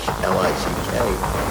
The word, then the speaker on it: Gaelic: They pronounce it phonetically. Spell it out Gah-Lick. Speak Gaelic. I thought it was Gaelic.